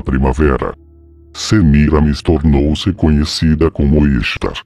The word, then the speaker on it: Ishtar: Semiramis tornou-se conhecida como Ishtar, que é pronunciado como Easter, Páscoa em inglês, e seu ovo lua tornou-se conhecido como Ishtar Ovo, ou Easter Egg, que significa ovo de Páscoa.